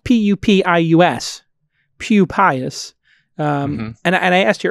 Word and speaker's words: Pupius: Well, it's spelled P-U-P-I-U-S, Pupius.